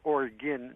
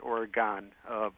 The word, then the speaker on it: Oregon: And by the way, Oregon is said Oregon, not Oregon.